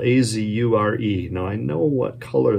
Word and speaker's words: azure: least thought that word in my head as azure. And when I did a bit deeper dive on it, it's actually probably pronounced azure.